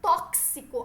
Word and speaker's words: tóxico: Pronúncia do X como CH quando deveria ser KS. Exemplo, tóxico. Intoxicar, tá errado. O tóxico, ó, o xi, é esse KS, certo?